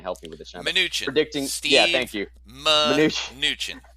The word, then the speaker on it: Mnuchin: today is Steve Mnuchin predicting, I know I butchered that name. You're going to help me with this, Sean. Mnuchin.